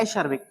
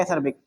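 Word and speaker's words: acerbic: तो इसको अपन ने क्या पढ़ लिया, एसर्बिक, real meaning, real pronunciation इसका क्या है, एसर्बिक, लेकिन अपन ने इसको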